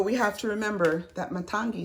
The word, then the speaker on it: Matangi: But we have to remember that Matangi says, am I pronouncing that right? Yes. Matangi, our energy, is saying it's okay to be different.